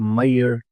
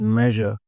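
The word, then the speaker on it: measure: अह मैंने काफी दफा समझाया कि इट्स नॉट मयर इट्स मेजर again people were saying pronouncing it wrong they were calling it मयर so this is नॉट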